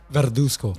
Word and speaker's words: Verduzco: botch your last name, Verduzco. Verduzco. pretty close. Yeah, that's pretty Verduzco. You gotta say with a little Spanish accent. Verduzco. Can you roll your R? Huh? Can you roll your R? Verduzco.